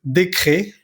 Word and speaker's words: décret: decreto, un projet de décret. Acá tenemos que darnos cuenta de que todas las E que tengan un acento siempre se tienen que pronunciar como en español.